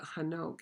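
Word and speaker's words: חנוך: He calls it Enoch, which is the way that English would have pronounced it without the H, because the Cockney English leaves H's off at the beginning. So it comes out Enoch instead of Hanok.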